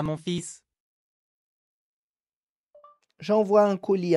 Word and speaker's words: fils: Lembrando que a palavra filho se pronuncia fils. Onde o L não se pronuncia, eu vou direto no S.